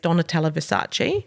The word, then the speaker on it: Donatella Versace: And in the last couple of days, Donatella Versace. Oh, beautiful pronunciation.